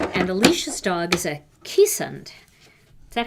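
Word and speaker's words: Keeshond: a Spitz breed, and Alicia's dog is a Keesund. Is that how you say it, Tom? Keesund?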